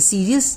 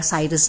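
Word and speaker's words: Sirius: जैसे कि मैंने बताया कि सीरियस जो स्टार है वो कई बार साइरस भी बोलते हैं, आप जो भी इसको प्रोनाउंस कीजिए, तो ये जो है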